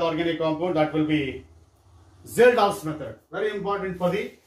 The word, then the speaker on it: Kjeldahl: Estimation of nitrogen by Zeldahl's method. KJELDAHL''S. K is silent.